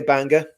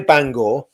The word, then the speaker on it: Bangor: if you're anywhere near Banga, Banga, I always pronounce it wrong because it just, you know, because I'm English, I say Bang apparently it's not the way to pronounce it, but anyway, if